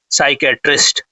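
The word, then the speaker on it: psychiatrist: तो जो mental disorder को डज करता है उसको बोलते हैं साइकेट्रिस्ट। ठीक है? तो यहां पर देखिए पी साइलेंट है।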